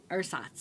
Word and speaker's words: Ersatz: That German word that we didn't know how to pronounce, but we looked it up. Ersatz? Ersatz.